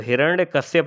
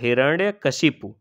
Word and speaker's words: हिरण्यकशिपु: इसलिए, यह 'हिरण्यकश्यप' नहीं है। यह क्या है? ' हिरण्यकशिपु'.